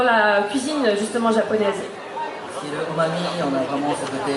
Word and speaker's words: umami: Mais tu as expliqué une notion qui était le umami, umami, je prononce bien.